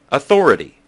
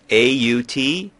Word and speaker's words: authority: The Brits put an aw sound at the beginning, authority.